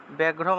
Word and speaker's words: ব্যাঘ্রম: মনুষ্যা, মনুষা, মনোজ ব্যাঘ্রম, ব্যাঘ্রম আছে, বয়ের সাথে জফলা থাকায়, বয়ের সাথে জফলা থাকলে বিয় উচ্চারণ হয়।